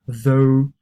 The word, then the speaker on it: though: here so we pronounced though thought and through right so though thought through you might try to memorize it with another word so though obviously rhymes with go so to align with